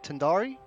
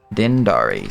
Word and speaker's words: Dindari: be the 23rd of Dindari. 23rd of Tindari? Dindari, spelled like so.